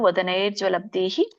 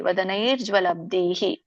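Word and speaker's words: ವದನೈರ್ಜ್ವಲದ್ಭಿಃ: ಬಿಡಿಸಿದಾಗ ಎರಡು ಪದಗಳಾಗುತ್ತೆ ಯಾವುದು ವದನೈರ್ ಜ್ವಲಬ್ದಿಹಿ ವದನೈಹಿ ಜ್ವಲಬ್ದಿಹಿ ಅಂತ ಸೋ ಕೂಡಿ ಹೇಳಿ ವದನೈರ್ ಜ್ವಲಬ್ದಿಹಿ ಯಾಕಂದ್ರೆ ಅಲ್ಲಿ ಅರ್ಕಾವಳಿ ಬರುತ್ತೆ ನೈ ಆದಮೇಲೆ ರ ಹಚ್ಚಬೇಕು ವದನೈರ್ ಜ್ವಲಬ್ದಿಹಿ ಮತ್ತೆ ದ ಕೆ ದೊಡ್ಡ ಭವತ್ತಿದೆ ಸೋ ಹಾಗೆ ಉಚ್ಚಾರಣೆ ಮಾಡಿ ಆಮೇಲೆ ನೋಡಿ ಇಲ್ಲಿ ಜ್ವಲಬ್ದಿಹಿ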